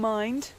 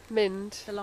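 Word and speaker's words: Mynd: which is the Long Mind. Mind. Do you know, I knew I'd get that wrong. The Long Mind, but spelt with a Y, M-Y-N-D, and Wenlock Edge.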